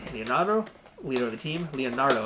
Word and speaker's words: Leonardo: Leonardo, that's how you say his name, not Leonudo.